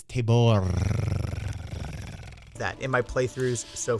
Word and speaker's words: Tabor: figures is correct that the pronunciation is table that in my playthroughs